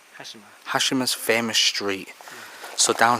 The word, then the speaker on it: Hashima: How do you pronounce it? Hashima. Hashima.